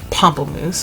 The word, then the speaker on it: Pamplemousse: I've heard people call it Pamplemousse, and I just feel like that sounds funny. I heard it initially pronounced Pamplemousse, which kind of sounds a little bit fancier, so that's what I'm gonna go with. Because Pamplemousse sounds like Pampers. It just instantly makes me think of Pampers, and I can't stop giggling.